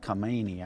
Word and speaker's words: Khamenei: Yeah, so this is coming from their supreme leader, Ala Khamenei, I guess is how you say his name.